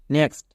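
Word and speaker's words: next: ই এক্স টি tricks নেক্সট নেক্সট এখানেও দেখো শব্দের মাঝে কি আছে এক্স আছে এবং তারপরে টি আছে এর জন্য কয় দন্ত সয়ে তাই কি দাঁড়ালো নেক্স তাহলে শব্দের মাঝে যদি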